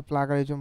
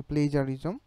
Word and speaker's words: plagiarism: অনেকে এটাকে প্লাগারিজম বলে তো আসলে এটা উচ্চারণ হচ্ছে প্লেজারিজম ব্রিটিশ উচ্চারণে একটু ডিফারেন্স হতে পারে তো প্লেজারিজমটা আসলে কি